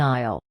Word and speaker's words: aisle: What is an aisle? Answer: a walkway in a store, and the S is completely silent.